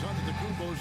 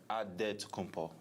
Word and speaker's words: Antetokounmpo: In a Nigerian way, you gotta say it with a D, so it's Antetokounmpo. But in the Greek way, you say it with the NT, like Antetokounmpo.